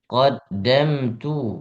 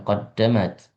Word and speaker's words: قدمت: yaqulu ya laitani qaddamat tu lihayati Qaddamtu bukan qaddamat. Qaddamtu. Oh ya.